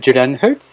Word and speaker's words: Julian Hertz: De retour sur Glockenpops et je suis en compagnie de Julian Hertz. Est-ce que ma prononciation est correcte?